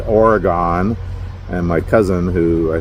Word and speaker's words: Oregon: Just like I've always said Oregon. And my cousin, who I think he used to live there, grew up there, he says, no, it's Oregon.